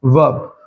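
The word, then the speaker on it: verb: इसमें जो आर होता है वो साइलेंट होता है। क्या बोलते हैं? वर्ब।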